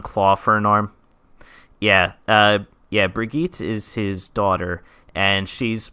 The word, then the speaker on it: Brigitte: Her name is, it's spelled like Bridget, but it's pronounced, I think, like Brigitte.